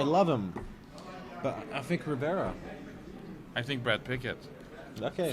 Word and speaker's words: Rivera: Not Riviera. This isn't a guy from the French Rivera. Rivera.